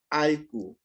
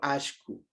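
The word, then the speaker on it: allku: palabras favoritas, y es alku, o yo pronuncio ashku. ¿Y qué es el ashku? El ashku es el perro, ¿ya? Es el perrito, ¿ya? Ashku. O recuerde que en la provincia de Loja, Cañar, Azuay, ellos pronuncian alku, alku, ¿ya? Entonces, ashku, yo pronuncio así, ashku, ¿ya?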